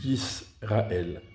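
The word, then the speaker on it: ישראל: Ici, il y a un shva sous le sin, mais il est à la fin de la syllabe et pas en début. Donc, il se lit Yisrael.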